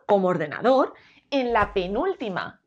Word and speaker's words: ordenador: si es dos ordenador como veis la forma correcta de pronunciar ordenador es con la sílaba tónica en dos ordenador y vamos con la